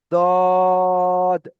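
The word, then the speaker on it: ض: আর সদের মতো দেখতে উপরে একটা নোক্তা, এটা হলো দদ, দদ।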